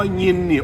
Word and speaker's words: ยิน: ว่า ยิน ครับ คำ ว่า ยินนี่ ออก เสียง ว่า ยิน ครับ ท่าน ต้อง ออก เสียง ให้ ดี ครับ ขึ้น จมูก ครับ ขึ้น จมูก เหงี่ยน หรือ